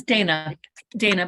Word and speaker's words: Dana: And Dana, remind me, am I saying it right, Dana or Dana? It's Dana, but it's kind of cute though with your little accent.